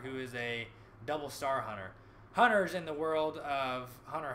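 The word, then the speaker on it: Hunter × Hunter: this is just about to come back out Hunter hunter pronounced hunter on her not a hunter x hunter as a story about going free sees a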